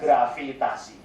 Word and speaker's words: gravitasi: Gravitation will be pronounced as gravitasi.